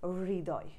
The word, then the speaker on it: হৃদয়: এটা হচ্ছে হৃদয়, হৃদয় আমরা এরকম বলি, হৃদয় হ আর হচ্ছে রি, আগে হটা উচ্চারণ হবে পরে রিটা আসবে, হৃদয় এরকম।